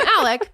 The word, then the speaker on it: Alex: to me but I I'm gonna call him Alec because that's what people call him but it's spelled Alex so yeah I'm not